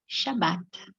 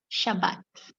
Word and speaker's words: Shabbat: This is how we pronounce it, Shabbat. You can say Sabbath, or you will find a way to say it correctly, I'm sure, but it's pronounced Shabbat.